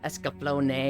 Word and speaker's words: Escaflowne: It's a nay sound at the end. Escaflowne. Yes, it's Escaflowne.